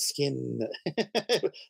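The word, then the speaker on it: Skinn: talented guy and um skin with two ends by the way which is why I said I pronounced it skin that's a real comic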